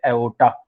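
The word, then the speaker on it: aorta: Artery सबसे मोटी artery जो ब्लड बाहर निकालते हैं उसको बोलते हैं एओर्टा. आर साइलेंट है, एओर्टा.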